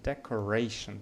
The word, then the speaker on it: decoration: So decoration, the first syllable, I mean decoration, the third syllable is stressed.